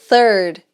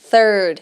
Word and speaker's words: third: E caso você não esteja familiarizado com th, é um som que a gente não tem no português mesmo, tá? Que é o som da língua entre os dentes. Third. Third.